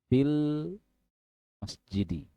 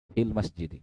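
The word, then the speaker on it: فِي الْمَسْجِدِ: maka jadinya fil masjidi ya ingat tadi ynya tidak terbaca ya karena ketemu la ketemu sukun ini sukun yanya lamnya sukun kalau alifnya tidak terbaca sukun ynya sukun maka dihapus secara pengucapan secara lafaz fil fil masjidi ya Jadi kalau membaca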